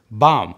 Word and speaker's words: Baum: beat and ask him how to pronounce the word bomb and then he proceeds to tell me that it's actually German and it means tree Baum is a Danish